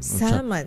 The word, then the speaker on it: salmon: Salmon salmon yun ano silent L.